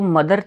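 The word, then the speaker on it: mother: है क्लोथ्स ठीक है तो जो मदर था ना मदर एम ओ टी एच ई आर मदर एक स्पेशल केस हो गया कि जिसमें टीच द की आवाज निकाल रहा है लेकिन इस केस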